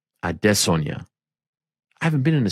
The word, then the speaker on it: Adesanya: Note the pronunciation. Adesanya.